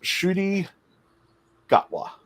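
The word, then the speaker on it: Ncuti Gatwa: our 14th doctor and it's pronounced shooty gawah he is going to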